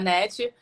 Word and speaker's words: Hannette: a net quadro destaque então no brasil seria net mas aqui nos estados unidos como h tem